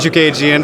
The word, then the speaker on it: Chookagian: here with Artie sport standing next to Caitlin shook agian does that pronounce that correctly right alright great awesome she